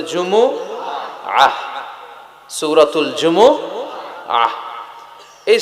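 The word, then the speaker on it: جمعة: সাথে সাথে বলেন সূরাতুল জুমা জুমুহু সবাই বলেন সূরাতুল জুমুহু অনেকে বলে ফেলে জুমা জুমা আসলে আরবিতে শুদ্ধ উচ্চারণটা হচ্ছে জুমু আহ আহ সূরাতুল জুমু আহ আহ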